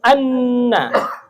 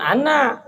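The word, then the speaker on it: أنّ: Wa asyhadu anna. Apa? Nun bertasydid bacanya apa? Gunna. Ditahan, digentak. Anna. Jadi jangan ana.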